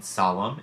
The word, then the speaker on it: solemn: one very confusing exception and can be silent as in solemn in which it's preceded by an M or tunnel in which